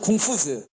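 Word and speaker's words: 孔夫子: 컨퓨셔니즘이란 영어 단어는 컨퓨셔스, 공자란 데서 왔고, 컨퓨셔스의 원발음은 궁푸즈, 중국말로 공부자.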